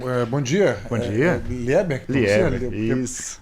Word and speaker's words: Lieber: Lieber, isso. Porque a pronúncia em alemão é Lieber, né?